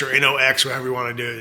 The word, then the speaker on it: HOKC: These are not Hawks knives. These are actually pronounced Knox knives. like N O K X or N O X, however you want to do it.